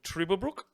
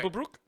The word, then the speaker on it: Trüberbrook: It is called Trüberbrook. Trublebrook. Trüberbrook. This is Oh, this is yeah, like you pronouncing them umlauts, bruh. Good work. Trüberbrook.